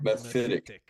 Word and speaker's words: Mephitic: And my 8 is Sanctarium into Methic. That's how you say it, right? Methic or Methic? Mephitic. Mephitic, okay.